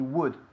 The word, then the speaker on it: would: Si no suena como could. He would. He would. Would. Más fuerte la D.